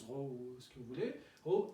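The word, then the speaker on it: ρ: le note aux pros ça ça se prononce rose que voulaient au x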